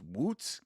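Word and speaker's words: Łódź: HE'S FROM LODS, POLAND. POLISH POWER. PULSKA, BABY. Come on. Let's see if Pska can pull it off over here. It's pronounced woots.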